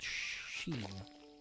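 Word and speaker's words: Shein: but a website called sheen that's how you pronounce it what was that was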